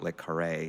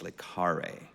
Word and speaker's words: le Carré: It is not le Carré, it's le Carré.